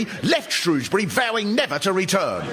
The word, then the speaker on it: Shrewsbury: And of course there's Shrewsbury, not Shrewsbury, set up in opposition. When all this was reported in the Shropshire Star, the first comment from someone called JJ went, "I don't pronounce the R at all and say Shrewsbury."